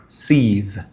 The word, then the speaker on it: sieve: আজকের প্রথম এক্সপ্রেশন হচ্ছে মেমোরি লাইক এ সিভ, SIEVE, সিভ। এটার উচ্চারণ আমি আর একটু চেক করে নিই আপনাদেরকে ক্যামেরাতে রেখেই। আমার একটু সন্দেহ হচ্ছে। তো সিভ, সরি, লং ভাওয়াল হবে না, শর্ট ভাওয়াল হবে সিভ।